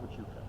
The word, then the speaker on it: Huachuca: See, if you're familiar with the area at all, you would know that now today as Fort Huachuca, still an active military base.